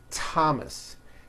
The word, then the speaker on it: Thomas: spelled with a th they are pronounced as if they were spelled with a normal T TT like that and these words are Thomas Thompson Teresa Thailand TS